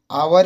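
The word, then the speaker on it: hour: इसी तरह आवर में भी आवर यानि कि एन आवर होता है।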